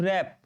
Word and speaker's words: wrap: WRAP रैप, रैप इसको हम लोग पढ़ते हैं, रैप नहीं पढ़ेंगे, रैप पढ़ेंगे।